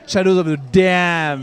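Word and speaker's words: Shadows of the Damned: Shadows of the dam comment on dit c'est Shadows of the dam ouais ouais ça tient beaucoup à cœur apparemment à souagichi de le prononcer un peu comme ça d'ailleurs il a même demandé aux gens de ne pas le le déformer et les PL voilà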